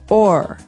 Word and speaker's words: o'er: So this is a way to make the word over shorter, because over, you can hear it 2 syllables, over. Mm-hmm. But sometimes we only want one, so we say or.